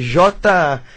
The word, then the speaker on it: Jnana: O próximo é Jnana. Jnana se escreve J-N-A-N-A. Isso parece Jnana.